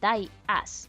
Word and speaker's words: Díaz: el apellido según tamsin se pronuncia como Die as que en español sería así como muere imbécil Marta puede venir